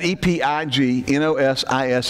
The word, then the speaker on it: epignosis: the of the aponosis of god that is e-p-i-g-n-o-s-i-s is the trans-literal lettering for from the greek to the english so we would pronounce the epignosis that is not the greek